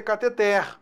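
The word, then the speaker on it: cateter: anel catheter cuidado né cattenom a pronúncia correta kt terra aqui sinto na durex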